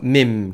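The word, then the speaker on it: meme: 밈, MEM이에요. 그래서 매라고 읽고 싶지만 그냥 밈이라고 읽혀요. 이 장모음인 거죠. 미 하면서 밈.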